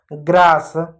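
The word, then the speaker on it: grass: अब देखो ए के बाद क्या है, एस है, इसलिए हमने आ पढ़ा, ग्रास।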